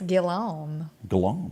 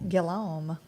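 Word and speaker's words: Robert Guillaume: Robert, how do you pronounce that? I think it's Guillaume. Guillaume, yeah.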